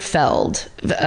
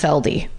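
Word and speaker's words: Felde: His name is Wayne Robert Feld, pronounced Feldy. I couldn't know until I got to that part of the parentheses. F-E-L-D? F-E-L-D-E. Feldy.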